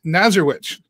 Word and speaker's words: Nazarewich: And she, meaning this is Amy Nazarewich. Did I say it right? You did, yes.